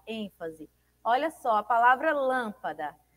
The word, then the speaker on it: lâmpada: Olha só, a palavra lâmpada. Lâmpada. Lâmpada. O lã é mais forte, né? É pronunciado com maior intensidade.